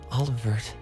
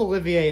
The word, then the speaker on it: Olivier: microphone i also have been saying his name wrong this entire time no he's called olivier in the sky games he's called all over it here that's his real name oh thank you when